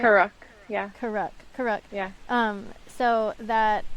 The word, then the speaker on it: Karuk: Reed and the Karuk, is that, am I pronouncing it right? Karuk, yeah, Karuk.